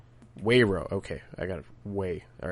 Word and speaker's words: Weiro: I always mispronounce. Wayro? Wayro.